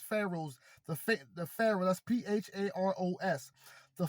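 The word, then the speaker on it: Pharos: The campus spread along the horseshoe-shaped port dominated by its, and it says Pharaohs, but it's spelled P-H-A-R-O-S.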